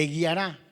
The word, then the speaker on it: guiará: Te guiará, con acento en la última.